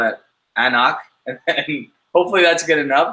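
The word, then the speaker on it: anCnoc: says it tells you it says pronounced uh knock there's a lot of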